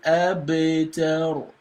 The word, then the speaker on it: أبتر: Inna shani'aka huwal abtar. You see that? Abtar. So the ba here is going to be pronounced with qalqala, with echo sound, right?